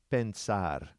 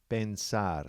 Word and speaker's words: pensar: in with it and this is a two syllable also the verb is pensar to think pensar so that's p e n s a r